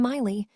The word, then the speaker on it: Miley: Hi, I'm Miley, rhymes with smiley.